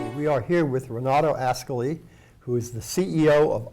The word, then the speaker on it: Ascoli: But by the way, let me thank you for pronouncing Ascoli in the proper way. I know it took some hard work on your side, but actually I'm known as Ascoli.